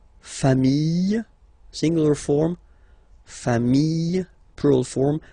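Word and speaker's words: familles: Okay, final s not pronounced fami singular form fami plural form same pronunciation s not pronounced.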